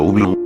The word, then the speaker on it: Ubloo: Porque no quiero ver a Ubloro, respondió, pronunciando Ublu, registrando mi reacción a esa palabra.